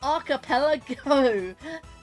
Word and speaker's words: archipelago: It's archipelago. It's like it's like something arapelago. A lot of things have to pre be pronounced a certain way otherwise they sound really weird.